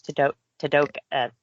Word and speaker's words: Tadoka: His name was Tadoka. It's like Dakota, but with a T.